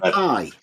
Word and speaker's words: pi: ratio no we um I say it the Greek way it's p this circumference over the you're just mispronouncing it people taught you to mispronounce the letter P it's not pie pies we eat circles